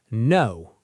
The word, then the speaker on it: know: No. Say it. No. The K is silent.